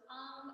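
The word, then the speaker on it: AUM: to chant um so AR is made up of three syllables A A and M right so it's a u m so starting with h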